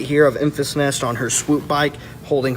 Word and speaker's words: Enfys: corrected me multiple times it is it is emphasis or at least that's how it's said on screen that's how it's said on screen um hey I thought it was in fees and asked before we saw